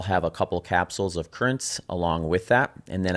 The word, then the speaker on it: Curranz: Currents, which is spelled CURRANZ, is a pre-workout supplement that I